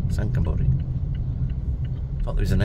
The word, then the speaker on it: Sangkhla Buri: Sangkhla Buri. Sangkhla Buri.